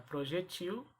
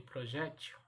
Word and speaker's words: projétil: E vimos também que há a possibilidade da dupla pronúncia, dupla maneira de pronunciar as palavras. Eu posso pronunciar Xerox e Xerox. Eu posso pronunciar projetil e projétil. Aliás, projétil e projetil.